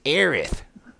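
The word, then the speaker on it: Aerith: looked I never liketh you gotta say it right it's aith whatever no she's annoying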